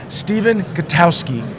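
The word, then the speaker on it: Stephen Gutowski: have read at least one of his stories Stephen katowski did I pronounce it right yeah you got it right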